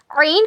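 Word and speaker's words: عين: उसके बाद ऐन ऐन ऐन ऐन का क्या मकरज है? हलक के बीच के हिस्से से ऐन अदा होता है। इट is pronounced from the middle part of your throat.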